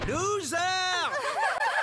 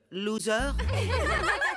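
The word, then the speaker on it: Zarr: Je suis Monsieur Loser. Mon nom se prononce Zar. Loser.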